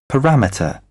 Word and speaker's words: parameter: 3 syllables हैं, second के ऊपर स्ट्रेस है। ये सुन भी लें आप। parameter, parameter, parameter, उसके बाद एक वर्ड है, ये बहुत ज्यादा गलत बोला जाता है, सुपरिटेंडेंट साहब।